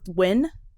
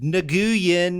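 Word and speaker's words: Nguyen: of it right and they're not pronounced at all like an org they're pronounced isn't it like win yeah like people be like Nan and you're like that's not how it goes at all yeah somehow it's win I'm sorry yeah um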